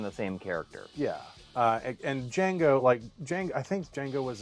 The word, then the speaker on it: Django: And Django, I think Django was a. Oh, I'm gonna mess this up. I The can't. D is cross silent. The D is silent, indeed.